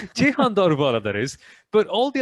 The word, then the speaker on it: Daruvala: We have seen really positive signs from Yuki Tsunoda, Jehan Daruvala, Yuri Vips. I said Daruvala wrong. I said it in the British pronunciation. I'm Indian. I'm not supposed to say it that way. Jehan Daruvala, that is.